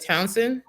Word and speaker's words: Towson: So you went to Towson?